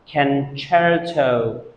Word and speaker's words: concerto: you pronounce it wrong because it is pronounced concerto CE is pronounced chair concerto tricky isn't it the